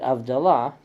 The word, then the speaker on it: Havdalah: In the case of the word Havdalah, the Yanina Jews pronounced it Avdalah because they didn't have the H.